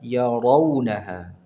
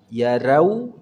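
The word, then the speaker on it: يرونها: lam yalbatu ahum yauman I ada kata yarunaha rnya dibaca dengan tebal Ya Ro Jadi bukan ra yarau tidak yarau gitu ya coba ya ya ro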